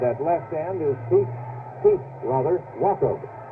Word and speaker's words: Wachob: And at left end is Pete Wachob. Now that's spelled W-A-C-H-O-B, but pronounced as in K, Wachob.